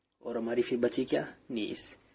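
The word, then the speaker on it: gneiss: नीस, जिनीसिस। ठीक है, जिनीसिस कैसे प्रोनाउंस करते हैं? ये जिनीसिस हमारा नीस जो होता है ना, वो हमारी मेटामॉस्फेरिक रॉक होती है।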